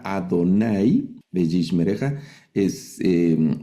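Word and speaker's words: יהוה: cuando leamos en hebreo, es decir, esta palabra no dice Adonay, pero al leerlo vamos a leer llevarjejá Adonay deishmereja es eh y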